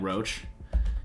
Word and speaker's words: Roche: right we got roche as i've learned it's pronounced i like roach can we call him quincy roach the roach